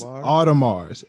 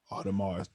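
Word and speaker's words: Audemars: you spell this ap thing okay it is all to mars a-u-d-e-m-a-r-s we gonna put the spelling up all right about it i found it i found it all tomorrow all i had to do is put a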